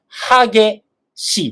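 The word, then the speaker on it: 激しい: Cuando es un adjetivo de esta manera, se pronuncia 激しいです。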